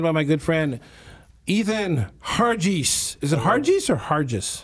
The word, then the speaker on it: Hargis: I'm joined by my good friend, Ethan Hargis. Is it Hargis or Hargis? Hargis. Hargis, excuse me.